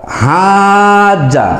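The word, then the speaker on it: حَاجَّ: হাজ্জা, হাজ্জা যখন টেনে পড়বেন তখন এর অর্থ হবে বিতর্ক, আর যখন আপনি হজ বলবেন তখন ওই হজের কথা উল্লেখ করা হবে।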